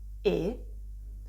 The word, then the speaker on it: e: after me my pronunciation you can see my lips here are still quite closed close to a e sound but not that close to each other just a bit more open but still pretty close e and this letter which is actually a word means and e this sound is actually called a closed a sound in italian because my lips are pretty closed when i pronounce the sound i can use this